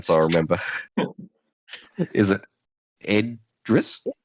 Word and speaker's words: Idris: Is it Idris? Idris. Just think IDRIS. IDRI. Yeah. Yes. Best way to kind of Idris. close enough pronunciation anyway.